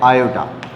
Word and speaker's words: iota: आई लिख देते हैं, और इसको बोल देते हैं आयोटा, हिंदी में बोल देते हैं इसको आयोटा, और स्पेलिंग होती है इसकी IOTA, ऐसे आयोटा। ठीक है, तो आयोटा बोलते हैं इसको।